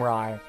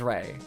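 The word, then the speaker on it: Raigh: look I'm sorry I'm gonna be calling him Rye I like I realize his name is Ray I realize it's pronounced like Rey like Raven and Lou like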